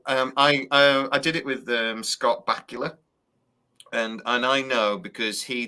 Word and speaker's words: Bakula: So I did it with Scott Bakula, and I know because he did an interview and he said, look, everyone says my name wrong, and it's Bakula like Dracula.